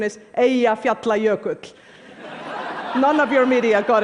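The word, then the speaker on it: Eyjafjallajökull: friends including President Obama by the way the pronunciation is a efe apply a coat none of your media got it right but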